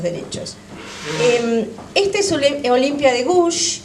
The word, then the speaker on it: Gouges: Esta es Olimpia de Gouges, o de Gouges, ¿vos cómo lo pronuncias? Gouges.